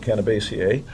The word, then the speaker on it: Cannabaceae: know how to pronounce that word, I always pronounce it Cannabaceae, lineage is estimated to be between 30 and 90 million years old on this planet.